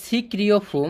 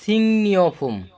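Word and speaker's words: 식료품: সিক্রিয় ফোম, কিন্তু উচ্চারণটা হবে সিংনিয় ফোম, সিংনিয় ফোম। এখানে একটা নিয়ম আছে, সিংনিয় ফোম। গিয়ক বাসিমের পরে যদি রিউল আসে, গিয়ক বাসিমের পরে যদি রিউল আসে, তাহলে গিয়কটা ইয়ং, ইয়ং হয়ে যায়। এখন ইয়ংয়ের পরে যদি রিউল আসে, তখন ওই রিউলটা নিউনে পরিণত হয়ে যায়।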